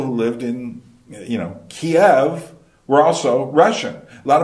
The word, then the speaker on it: Kyiv: Well, I guess what they're saying is Kyiv is more the Ukrainian pronunciation. But let me tell you, a lot of the people who lived in, you know, Kiev were also Russian.